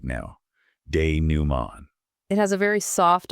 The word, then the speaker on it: dénouement: Dénouement. The T at the end is completely silent. Dénouement. I want you to try saying it aloud right now. Dénouement.